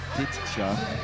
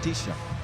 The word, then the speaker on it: Tisha: wrong with st the Alex Higgins not Tia Tisha Tisha so thank you appreciate